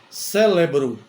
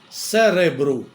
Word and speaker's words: cérebro: um erro muito comum muita gente fala célebro célebro mas não é cérebro é com R não tem o l não é célebro é cérebro embora as duas palavras